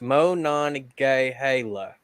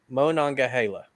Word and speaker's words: Monongahela: uh real artist and he says it's Mo non gay Halo so Monongahela there you go uh